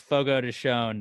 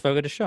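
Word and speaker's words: Fogo de Chão: it leg of lamb i know it's fogo to shown they always have the uh channel but it's pronounced forgot to show and i i used to do ads for them and they made sure i pronounced it correctly but yeah i've never heard of that actually i used i'd always call it a photo to chow but uh like would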